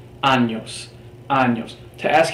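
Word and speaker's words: años: at the word anos the letter it is pronounced as if it is always written with a Y anos anos to ask how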